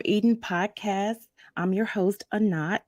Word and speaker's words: A'nat: podcast I'm your host anat a lot of people mispronounce that it's a knot like uh not um if you haven't